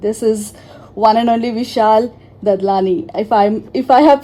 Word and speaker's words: Vishal Dadlani: It's an absolute pleasure to have you on Radio Naira, and this is one and only Vishal Dadlani. If I have pronounced it right, Vishalji.